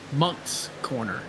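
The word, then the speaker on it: Moncks Corner: It's pronounced Monks Corner.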